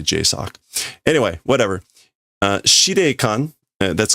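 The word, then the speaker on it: JSOC: So they're saying the pronunciation for this is J Su Oi. So like J S O C. But that's not how you pronounce this. You you just say J sock.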